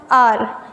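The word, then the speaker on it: hour: जैसे अभी जनरली देखते हैं आर, इसका प्रोनाउंसिएशन क्या होता है, आर।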